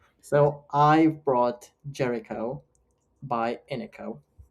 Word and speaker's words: Iniko: So I've brought Jericho by Ino. Ino. That's how you pronounce it.